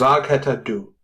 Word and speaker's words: vad heter du: Vad heter du? You're close. It's vad heter du, pronounced vad heter du.